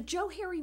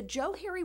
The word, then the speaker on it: Johari: in 1969 that the Joe Harry window is pronounced as if it were Joe and Harry which is where the